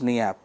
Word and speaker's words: Niépce: No, it's a French name, so it becomes Niépce.